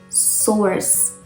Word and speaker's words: source: it's not like that the word should be pronounced source source so many people say source if you